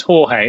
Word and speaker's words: Jorge: Now, I don't know if George is pronounced George, or is it Jorge? Yeah, it's Jorge, isn't it? Yeah. This is me not at all being very clear with how to pronounce names, but to me it says George, but it's not George. It's Jorge.